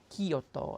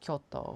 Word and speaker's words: Kyoto: But it'll be Kyoto instead of Kyoto, which is kind of like, it's very extremely subtle. And like, or Tokyo, instead, or Tokyo, it just basically sounding out all the syllables versus Tokyo, which is kind of, it blends it in more, I guess.